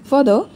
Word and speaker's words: further: Guys, यह जो हमारा पहला वर्ड है, फादर, इसका जो साउंड है, वह कुछ फादर से रिलेटेड आता है, लेकिन फादर नहीं है। इसका मतलब है इसका साउंड है फदर वर्सेस फदर। आर यहां पर साइलेंट है।